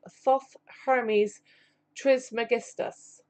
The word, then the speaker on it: Thoth Hermes Trismegistus: the chapter entitled the life and teachings of Thoth Hermes Trismegistus and I hope I have said that right